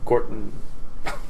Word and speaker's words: Gorton: Gordon? I kind It of just- said it with a D. Well, I say it wrong. I say sounded with a D. like Gordon, but it's not. It's Gorton. You say your own name wrong.